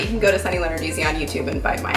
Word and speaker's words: Lenarduzzi: Lenarduzzi. Lenarduzzi.